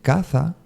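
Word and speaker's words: caza: in the hands hair then you have Kasa and CA with Z again s and Z Kasa means house and catha means to go hunting my boy the catha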